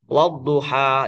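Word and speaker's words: وَالضُّحَى: Maka ini wadduha dibacanya panjang ya.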